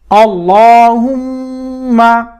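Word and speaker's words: اللهم: দেখে দেখে পড়লেও হবে আল্লাহুম্মা হামজা জবর লামের তাসদিদ আল লাম খারাপ জবর এক আলিফ ঠোঁট গোল করে মোটা করে উচ্চারণ করতে হবে ল হার পেশ মিমের তাসদিদ হুম মিম জবর মা আল্লাহুম্মা আল্লাহুম্মা আল্লাহুম্মা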